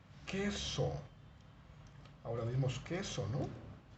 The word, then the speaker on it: queso: un sonido fuerte luego Tenemos también que pero que se escribe con q como la palabra queso ahora vemos que eso